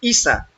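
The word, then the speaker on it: عيسى: O sea, en en árabe se pronuncia Isa porque así es pronunciado en esa área del mundo.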